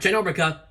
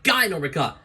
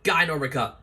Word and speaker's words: Ginormica: murphy slash guy norbica not ginormica yeah is that's pronounced ginormous it's guy normika yeah with a soft g that's right guy normica a woman from modesto